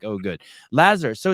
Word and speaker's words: Lazar: In the United States, they usually call me Lazar. Lazar, yeah. I wonder why that is. You guys have a weird pronunciation of stuff. Lazar. How about this? Lazu. No. Lazar.